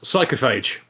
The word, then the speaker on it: Psychophage: the name of it it's psychophage so that's how you say it horrify him yes